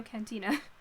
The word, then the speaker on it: cantina: so c-a-n-t-i-n-a i know cantina i'm pronouncing it with the spanish pronunciation because it's la cantina so la cantina had